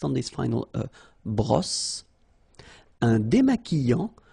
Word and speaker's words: démaquillant: So we've got this QU, but then U is not pronounced. So you get the sound qui, okay? And then remember, double L after E will give you the sound y. Démaquillant. Final T not pronounced.